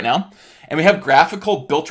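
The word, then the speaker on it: GraphiQL: So, without further ado, graphical. People never know how to say this. I hear GraphQL. It's graphical, right? So like a graphical user interface.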